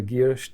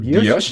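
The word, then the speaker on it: guilloché: It's a French term. Is it guilloche? Yes, or guilloche? Because I hear it pronounced both. Normally, we say guilloche.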